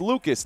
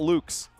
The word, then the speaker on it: Lucas: That's pronounced Lucis. Lucas. Lucas. Oh, it's Lucas, not Luke's.